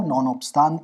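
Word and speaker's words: non obstante: article, that is the non-obstante clause, as we say it in law, non-obstante if you want the Latin pronunciation, the President may, by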